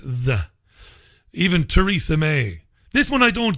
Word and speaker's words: Theresa: Even Theresa May. This one I don't get, though. It's spelled T-H-E-R-E-S-A. Theresa. Theresa, right? We would say. But they pronounce the TH a hard T.